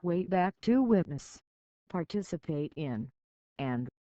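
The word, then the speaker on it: WABAC: time machine called the wab BAC machine pronounced way back to witness participate in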